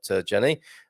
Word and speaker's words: Gianni: I used to call you Jeannie, didn't I? I think you said Gianni.